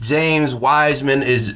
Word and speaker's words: Wiseman: James Wiseman that's how you pronounce his name.